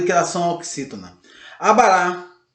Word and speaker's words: abará: Abará. E outras, tem umas que não são acentuadas, mas a sílaba tônica não deixa de ser na última sílaba, tá ok? Por isso que ela é uma oxítona.